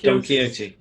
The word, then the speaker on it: Don Quixote: And apparently it's named after the horse in the novel, and I can't pronounce this either, Don Quixote. That's it. Don Quixote.